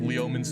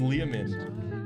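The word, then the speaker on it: Leomund: and dragon spell called leomin's tiny Hut it's I think it's pronounced liaman uh but Jeff in this song calls it leomins and I'm So Into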